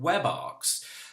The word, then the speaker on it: WebARX: plus anything PHP security platform and it's called web arcs that is spelled w/e be a rx and you can